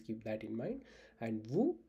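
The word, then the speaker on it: vous: Please keep that in mind and vu is formal and s in vu is silent while pronouncing.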